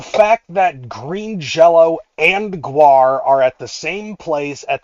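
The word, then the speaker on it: GWAR: I'm like, that's an A. Okay, it's not an O. Gu., okay, it's guar.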